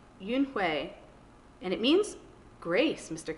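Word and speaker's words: Unhei: turned to joey she nodded slowly yes it's pronounced yoonhue and it means grace mr kim ad added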